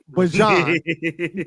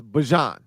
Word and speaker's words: Bijan: He told us in the hallway and shit. It's Bijan. He told us the correct pronunciation is Bijan.